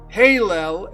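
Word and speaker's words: הילל: Hallel is Lucifer's original spelling and pronunciation in the Hebrew Bible of Isaiah 14 verses 12.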